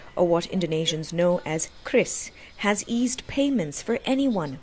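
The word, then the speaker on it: QRIS: Now, I was just told that it often gets mispronounced as curis, but it's actually Chris.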